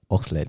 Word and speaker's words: Oxlade: Sit down with Kily, like have a, like, you know how you had Oxlade. Yeah. Is that how you say it? Yeah. Oxlade.